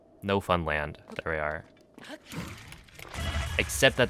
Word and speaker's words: Newfoundland: You're not supposed to say Newfoundland. It's like in Newfoundland. No, you like mispronounce every single vowel. I think, if I remember correctly. No Funland.